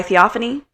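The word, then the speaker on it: Theophanie: But you have that balance where it was even said by Theophany. That's how you pronounce her name.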